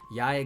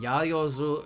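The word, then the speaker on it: 八: Now, I hope you'll notice that whenever it's used that way, it's always pronounced ya.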